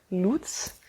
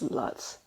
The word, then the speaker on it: Luts: c-h-e-u um yeah but basically i i think in english it will translate to loots so it's actually loot